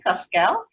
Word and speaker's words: Cosquelle: I will spell it Coskel.